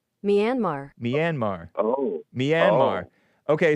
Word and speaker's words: Myanmar: So American, in American, it's Myanmar. Myanmar.